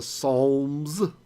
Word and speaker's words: Psalms: for some of the Psalms it's got a silent L what a strange word right PM but uh yeah